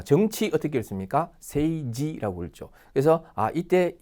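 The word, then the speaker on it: 政治: 세이지라고 읽죠. 그래서 이때 이 지자가 그죠? 찌가 아니라 지로 발음이 나는구나.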